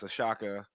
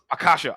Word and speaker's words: Akasha: uh film role in this movie uh as Ashaka or is it did I pronounce it wrong? It's Aasha. Is it Ashka? It's not Aasha. Accasha. Accasha. Akasha.